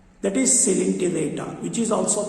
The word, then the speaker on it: Coelenterata: Now, the today topic is general characters of phylum Coelenterata Cnidaria. Coelenterata. Spelling చూడండి ఒకసారి COELENTERAT. ఓ silent అవుతుంది. ఓ right. Not Coelenterata. Not Coelenterata. O silent. That is Coelenterata, which is also called as Cnidaria.